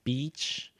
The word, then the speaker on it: beach: that are learning English they say something similar to a bad word which is like B okay so make sure that that be right that you're smiling when you say that because yeah when